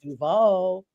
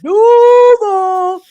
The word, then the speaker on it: Duval: And that's how you say it. That's how you say it. You don't be like Duval. You don't Duval. Yeah, you don't do that little fake coaching stuff. That even I know it's Duval.